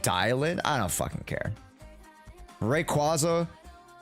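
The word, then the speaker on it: Dialyn: It's pronounced Dialin.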